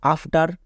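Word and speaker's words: after: Next আফটার, এখানেও দেখো শব্দের শেষে ই এর পরে আর আছে, ই এর পরে আর থাকলে কি হই? আ হই, তাহলে আফটার, এ এফ, আফ, টি ই আর, টার, আফটার। তাহলে আমরা মনে রাখবো যে ই এর পরে আর থাকলে ই এর জন্য আ সাউন্ড হই।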